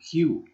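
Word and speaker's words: queue: you watch it watch this word is pronounced like the first letter just say q q q Humana soft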